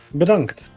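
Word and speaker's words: bedankt: Bedunked. Bedunked. Bedunks.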